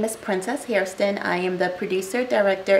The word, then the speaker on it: Hairston: I'm Hairston. Maybe we don't pronounce the I, but it's spelled that.